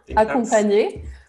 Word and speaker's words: accompagner: Accompagner.